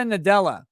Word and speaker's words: Nadella: It's Satya Nadella, right? The guy whose name rhymes with Nutella.